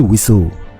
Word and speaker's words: WSO: WSO sering diucapkan sebagai Wiso.